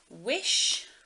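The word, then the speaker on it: Whish: So I chose this for the film Pinocchio because it is Wish, which I don't know if you can see it there, but it is spelled W-H-I-S-H, but it is Wish.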